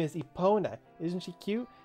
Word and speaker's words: Epona: Her name is Epona. Isn't she cute? As a kid, I mispronounced this as Europa.